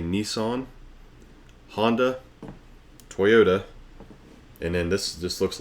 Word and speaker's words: Toyota: 10 Japanese brands you pronounce wrong. Asagi, have you had cars from Toyota?